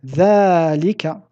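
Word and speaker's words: ذلك: Dhalika, de même que hada, comprend une lettre prononcée qui ne s'écrit pas, qui est le alif. Je l'ai écrit ici en rouge, donc dhalika, dhalika. Nous disons dhalika bil mad et nous l'écrivons dhalika.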